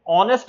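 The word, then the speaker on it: honest: उदाहरण के तौर पर फिनोमिना में पी साइलेंट है, ऑनेस्ट में एच साइलेंट है, लिसन में टी साइलेंट है, साइकोलॉजी में पी साइलेंट है, वॉक में एल साइलेंट है, नाइफ में के साइलेंट है।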